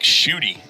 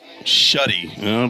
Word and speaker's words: Schutte: I wanted to say Schutte all day long, and then I think I did hear your coach say Shuddy, so I won't tell him that he's pronouncing it wrong off his line.